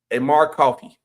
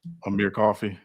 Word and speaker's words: Amir Coffey: Amar Coffey of Coffee. I think I said it right from the Clippers. Amir Coffey.